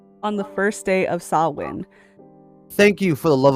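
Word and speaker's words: Samhain: the first day of sawin thank you for the love of God thank you for finding out the pronunciation of that because that is a number one thing everyone sees Sam Hayne and they're all like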